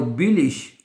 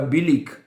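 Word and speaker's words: billig: और बिलिश और बिलिक है, दोनों लफ्ज प्रोनाउंस किए जाते हैं, बिलिक और बिलिश।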